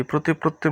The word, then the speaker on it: প্রতিপত্তি: মর্যাদা মর্যাদা প্রতিপত্তি প্রতিপত্তি প্রতিপত্তির মধ্যে প এর ফালা প এর ফলা হচ্ছে যুক্তবর্ণ আর তয়ে তত এই যে ও এর উপরে যদি মাত্রা থাকে তাহলে সেটা হচ্ছে তয় উচ্চারণ হবে প্রতিপত্তি প্রতিপত্তি আক্ষে আক্ষেপ এখানে যুক্তবর্ণ